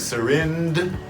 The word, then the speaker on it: syringe: Go to the D. Almost like syringe, but don't say the D. Turn it into a J.